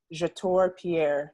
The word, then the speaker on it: Jator Pierre: Asia Ophelia and today I am here with your tour Pierre did I pronounce that right I didn't even ask you